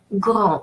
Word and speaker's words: grand: AN followed by a consonant or at the end of the word is pronounced nasal A. So en, grand. And final consonant, rule of thumb in French, final consonant is silent. So D is not pronounced.